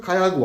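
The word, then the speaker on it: Calle Agua: gittim Baktım ecellago eşledim Cella yazıyor kayahoo okunuyormuş meğerse Niye Çünkü baştaki Jack K oluyormuş yani kelimenin başına gelirse sonra İkile yan yana gelirse y oluyor ya ondan sonra Kaya oluyor eti de tabi iki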